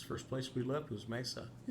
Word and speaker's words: Mesa: She was from Maine, so she thought it was Messa, which which is the same way Siri pronounces it.